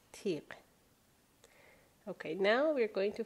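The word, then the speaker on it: تیغ: but kind of connected, like tiq, the word tiq, which means razor or thorn, right? So tiq, that's the sound at the end, tiq.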